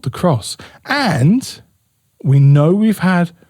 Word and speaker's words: XROS: you carry on possibly this here does not say xeros nope it doesn't say axros nope it's meant to say cross it's now it's cross everyone's been saying it wrong right so you know